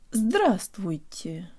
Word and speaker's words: здравствуйте: Здравствуйте.